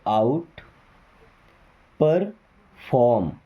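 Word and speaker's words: outperform: आउट परफॉर्म आउट आउटपरफॉर्म okay परफॉर्म नहीं आर को थोड़ा साइलेंट रखते हैं आउटपरफॉर्म ओके देन एम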